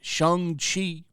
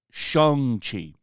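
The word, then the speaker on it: Shang-Chi: you watch Marvel movies he played shung Chi who used to be called Shang Chi but for some reason when the movie came out his name is now pronounced Shang Chi so simulu is out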